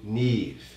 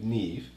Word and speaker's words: NIve: Today we're going to be watching Neve. N-I-V-E, but it's pronounced Neve.